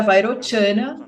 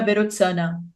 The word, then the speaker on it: Vairochana: Ele provavelmente foi um pandita indiano que viajou por volta do século XI para o Tibete, e o seu nome era Vairochana, ou na pronúncia tibetana, Berotsana.